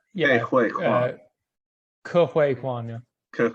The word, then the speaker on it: Ke Huy Quan: Oh God, I'm very bad at pronunciation. Ki Fine, Hu see you now. KEHUYQUA. It's Ke Huy Quan.